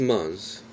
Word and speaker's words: months: Over the last months. 자, months, 달에 S가 있죠. 그러면 TH 발음을 하지 말고 S만 살려서 months 하세요.